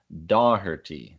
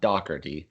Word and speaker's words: Doherty: Hey, we got Steve McGrath at DJ Steve McGrath says it should be pronounced Doherty, D-A-W, not Doherty.